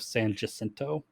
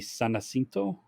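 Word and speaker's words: San Jacinto: this battle in Texas Texans call it the Battle of San jento okay it it's in Spanish it's supposed to be sanino Americans once again screwing up Spanish yeah uh but I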